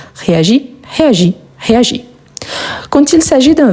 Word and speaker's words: réagis: Quand on conjugue, je dis je réagis. Donc, je ne prononce pas le S à la fin. Je réagis ici.